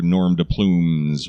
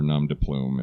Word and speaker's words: nom de plume: for moonshine as their norm de plumes or nom de plume if it's pronounced correctly this one similar to